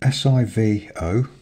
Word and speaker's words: Sivo: It's spelled S-I-V-O, so that's Sivo, Styles HB.